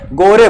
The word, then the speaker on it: gore: इसको क्या बोलते हैं, गोरे बोलते हैं। दो देशांतर रेखाओं के मध्य के क्षेत्र को गोरे बोलते हैं, या इंग्लिश में प्रोनाउंसिएशन करते हैं गोर, GORE। ना गोर या गोरे बोलते हैं।